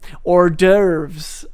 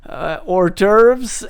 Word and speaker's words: hors d'oeuvres: Like any word that has an H at the beginning of it will be pronounced without it. So you have hors d'oeuvres, which you spell like this.